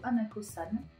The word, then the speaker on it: Hanako-san: Ensuite, nous allons parler de la légende de Hanako-san. Pareil, normalement ça se prononce comme ça.